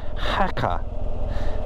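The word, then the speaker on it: Jaca: to head off to I'm sure it's pronounced hacka um because J's are pronounced H I think in Spain and from there I've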